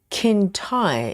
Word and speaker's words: Kintai: The first word is pronounced like Kintai. It's a bridge in Japan.